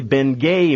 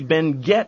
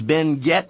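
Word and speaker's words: Benguet: You see, Ben Gett Mining was a Philippine corporation. They never spoke French in the Philippines. They spoke Spanish, and in Spanish you pronounce the T. It is Ben Gett Mining.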